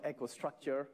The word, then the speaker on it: EcoStruxure: Finally, you don't pronounce the X in EcoStruxure? Well, you did it without the X. I always get it pronounced wrong. EcoStruxure or EcoStruxure or? Well, we call it EcoStruxure, and I would leave